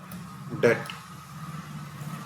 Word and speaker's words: debt: डेप्ट this is called डेप्ट नॉट डेप्ट बी इसमें silent है ठीक है इट मींस